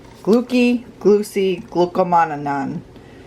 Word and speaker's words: glucomannan: correctly glucky glue see glucomannan glucomannan glucomannan i say glue see not glooky because of the italian in me i've explained that before